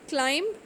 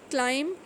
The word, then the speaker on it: climb: B is not pronounced when following M at the end of a word. If M comes before B in a word, then we are not going to pronounce B. B will be considered silent. Like for example, climb, crumb, dumb and comb.